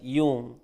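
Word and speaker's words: Jung: the word you know j-u-n-g it is pronounced as yoon he uses the word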